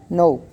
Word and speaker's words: know: Next, no. K is again silent here.